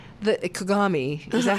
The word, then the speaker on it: Kagame: Legally so next question then you said that kagami is that how you say it kagami kagami yeah kagami that the world was supporting him in 1994